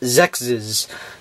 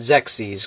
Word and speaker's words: Xexyz: about a little bit about Sexy's or maybe it's sexes depending on how you want pronounce it I'm going to call it sex ease because that's what I call it as you can see